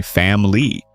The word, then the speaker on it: family: For example, in family, many people swallow the second I and say family.